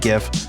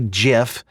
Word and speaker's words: GIF: thing off the list I say gif you might say jiff who's right who's to say there are two accepted pronunciations of gif I say